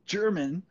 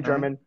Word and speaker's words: German: It's pronounced German, but that's okay. A lot of people call me German.